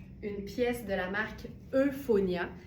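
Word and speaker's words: Eufonia: On va y aller avec une pièce de la marque Euphonia. Ça s'écrit comme ça se prononce.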